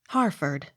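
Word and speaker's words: Hertford: h e r t f o r d harford h o m e hume h u g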